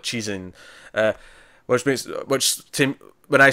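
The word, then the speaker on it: Cixin: you know what the the Mandarin pronunciation would that be is CI Xin yeah six analogous that is more like cheese in which Tim when I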